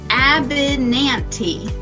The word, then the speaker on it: Abinanti: To say my name, it's Mrs. Abinanti. Abinanti.